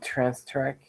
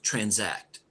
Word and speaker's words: transact: Trans track. I don't know that much. You're putting an extra T here. It's transact. Transact.